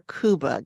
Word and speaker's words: Cuba: Is it Cuba or Cuba? Yeah, it's Cuba, like the country.